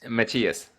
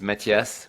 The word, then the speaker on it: Matthias: is Matthias or Matthias Matthias yeah yeah I wasn't sure yeah the French way is Matthias which nobody can really say in English-speaking countries so I Americanized it